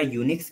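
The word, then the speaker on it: Unix: एन आई सी एस दोनों का जो प्रोनाउंस सशन है वो आपको लगभग सेम ल य लग रहा है यह बताइए यस सर इसीलिए इसको चेंज करके हमारा जो पहले का नाम था वो था यू एन आई सी एस क्या नाम था इसका पहले यई सी एस ठीक है बट इसका प्रोनाउंस भी हमारा यूनिक्स की तरह ही होता था तो इसका स्पेलिंग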